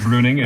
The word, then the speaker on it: Bruening: My name is that E in the middle kind of throws people off, but it is silent, so it's pronounced Bruening, and I appreciate you guys having me.